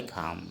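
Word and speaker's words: ঘাম: असमिया में घाम कहते उच्चारण भी जैसे ब्रैकेट में उच्चारण लिखा हुआ है घाम दोस्तों ब्रैकेट में जो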